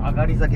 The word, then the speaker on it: 東崎: たいと思います東咲きと書いて上がりですがまぁガールということで上がり酒でございます教育